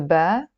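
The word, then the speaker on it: باء: We know the Alif, we know the Ba, or Be. In Lebanese Arabic we can pronounce it Be.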